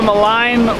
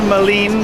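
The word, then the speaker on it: Maligne: so we're at the malign or Moline depending on how you pronounce a canyon and it's just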